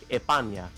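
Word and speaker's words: España: Well, if you're from Andaluthia, they would say like Epana. Um, but like without pronouncing the S at all.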